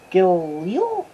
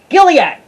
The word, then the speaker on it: Gilead: next to mount go trying to pronounce this gilliam not that android gilead i should hire someone